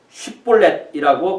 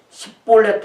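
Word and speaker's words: 쉽볼렛: 그것이 6절에 보니까 그에게 이르기를 쉿볼렛이라고 발음하라 하여 에브라임 사람이 그렇게 바로 말하지 못하고 십볼렛 하면 그 사람들이 그 에브라임 사람이라는 것을 알고 죽여라. 옛날에는 십볼렛 이렇게 했는데 이게 영어로 말하면 SH 발음과 S 발음이에요.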